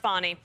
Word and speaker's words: Fani: call her fny it's F spell Fanny but pronounced fonnie okay so she when